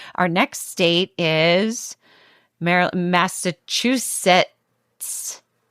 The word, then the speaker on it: Massachusetts: And if you pronounce Massachusetts like Netty does, which is Massachusetts, you can also send us your stories.